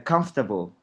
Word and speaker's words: comfortable: Comf, comf ini sekali, comfortable. Tiga kali penyebutan. Bukan empat ya, comfortable tiga kali, Mister. Jadi, Ya. comfortable. Comfortable. Nah, O-nya hilang, comfortable.